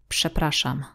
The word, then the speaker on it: przepraszam: The next sound would be sh. Sh. As in the word przepraszam. Przepraszam. Although the first combination RZ is written differently, it is the same sound.